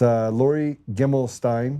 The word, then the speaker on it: Gimelshteyn: And it's Lori Gimelshteyn. I said that right, 3 syllables.